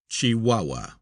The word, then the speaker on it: Chihuahua: Footnote, pronounced Chihuahua.